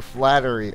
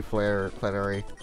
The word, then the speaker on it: Flannery: fought, what's her name, Flannery, or Flattery, or, you know, the fire girl. It's actually Flannery. I said her name wrong on purpose.